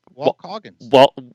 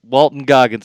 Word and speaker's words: Walton Goggins: Walt Coggins. Say his name again. Isn't it Walt Coggins or something? Walton Goggins. Oh boy, I was close.